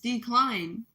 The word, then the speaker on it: DeKleine: It's actually That's really what his name was, DeKleine. Like not not decline like d e c l i n e, but d e k l e i n e, DeKleine.